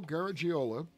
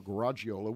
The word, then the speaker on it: Garagiola: Louis, Missouri, Joe Garagiola, or Garagiola, whichever way you want to pronounce it, grew up on Elizabeth